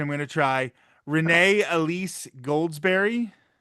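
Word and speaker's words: Renée Elise Goldsberry: And I'm going to try the pronunciation. I'm going to try Renee Elise Goldsberry.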